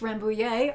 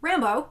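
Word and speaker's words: Rambouillet: rainbow day i it i think in french it's rambu yay but i don't know um rambo is how a lot of people talk about it it is ramo is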